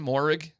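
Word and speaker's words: Mohrig: Morig.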